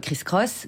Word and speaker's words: Kriss Kross: ça c'est gros strophe non c'est cross prononcé cross c'est à dire kriss kross chris brown est allemand